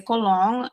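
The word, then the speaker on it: Colón: So the second O has an accent, but of course in EHRs there's usually there's no accents on names. And so people were just very confused with how I pronounce my last name, right? So I would say colong and then I started getting questions. But wait, it's spelled colon.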